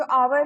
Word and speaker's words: hour: an hour, क्योंकि जो hour है like hour कह लो, hour कह लो, that is American and English pronunciation का difference. तो उसमें hour में h का sound नहीं आ रहा, right?